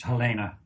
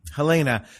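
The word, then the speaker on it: Helene: is her name yeah it's her dad's German so it's pronounced Helena Helena so you met her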